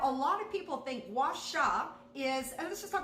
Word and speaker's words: gua sha: I mean, I hear some really crazy words, but the word is gua sha, and that's how you want to say it.